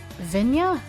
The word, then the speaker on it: Vigna: But pronounce it like Italian. Vinya?